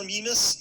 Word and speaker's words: Gallimimus: i have been pronouncing gallimimus am i completely off um that's just fine minus or mimus you find people use both uh they even do